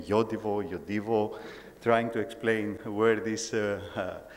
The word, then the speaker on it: Yodiwo: year with the name Yodiwo, trying to explain where this pronunciation comes from, which is a Swedish-based pronunciation. So the name is Yodiwo.